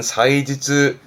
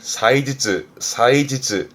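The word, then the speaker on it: 祭日: 발음은 사이지즈.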